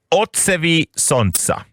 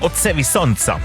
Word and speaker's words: Odsevi sonca: Det här är Joker Out, och det ska uttalas ungefär Otsevi Sontsa. Solens reflektioner. Ja, visst sa han Otsevi Sontsa.